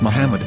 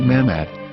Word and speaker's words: Muhammad: yehuda's Hebrew English dictionary it is correctly pronounced as Muhammad not mammad so how we're going